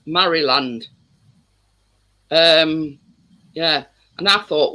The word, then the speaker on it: Maryland: Ing and all partners partner said it was pronounced Murray land now Murray is m-a-r-y Highway and Maryland because it's spelled Mary um Partners partnest um pulled me up about and I said Maryland and he says it's not it's pronounced Murray